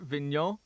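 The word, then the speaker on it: Vigneault: Yeah, it's he's a French Canadian. How do you pronounce that? Vin. Vin. Vin Vin. Okay.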